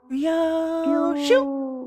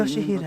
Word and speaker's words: Yoshihide: Ryoshu? 아니, No, 그 that's not how you 글자는 read those 그렇게 읽는 letters. 게 아니라 요시히데라고 읽는 Yoshihide. 거다. That's how you say it.